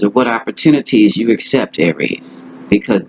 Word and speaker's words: Aries: This is the Aryan male. Not Aryan, but Aries male. I'll say it like that.